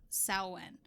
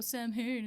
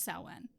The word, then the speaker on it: Samhain: ancient Celtic festival of Samhain. So that's the one that's spelled Samhain. Okay. But the MW combination in the Irish language turns it into a W sound.